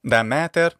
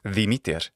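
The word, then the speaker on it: Δημήτηρ: Da mater, that's the classical Attic pronunciation. In modern Greek pronunciation, it's Demeter. Does she have an ancient Roman equivalent?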